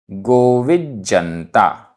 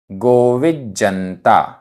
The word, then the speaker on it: गोविज्जनता: गोविज्जनता, आधा जा पूरा जा, गोविज्जनता। वि, वि, धीर पुरिसेहिम, धीर पुरिसेहिम।